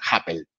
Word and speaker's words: Happel: ir en alemán, pero es bastante fácil, es Happel, no es muy Happel, difícil, simple, cortito y al pie. claro. Es casi como la aplicación de cita Happen, pero este es Happel. Exactamente, es como la explicación de Cita Happen, pero en vez de la L, Perfecto, de la N, la L.